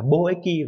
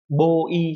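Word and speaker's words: 貿易: Do vậy dù nó có hai cái đọc là eki và y thì cách đọc đúng phải là bo eki và ko eki chứ không phải là bo y hay là ko y.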